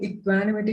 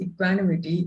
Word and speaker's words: equanimity: Okay, so the word equanimity is not pronounced equanimity if an English speaking, that is a British English or an American English speaking person speaks or says this word, they would pronounce it as equanimity. It's pronounced equanimity, not equanimity.